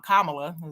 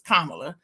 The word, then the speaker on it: Kamala: have to talk about Kamala Kam kamla is her name that's how you say it kamla people calling her all kind of crazy stuff but it's Kamala and I'm like what